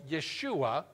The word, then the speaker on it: Yeshua: But you know what Joshua's, the Hebrew name Joshua is sometimes pronounced by Jewish people, Yeshua, which is the same name as the Greek name Jesus.